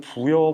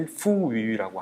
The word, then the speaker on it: 부여: 거의 뭐 넘어간거나 다릅니다 부여 같은 경우도요 한국 발음인 부여 보다는 중국 발음이 후우라고 하는 그 발음으로 하고 있습니다 뭐 그렇게 선정은 계속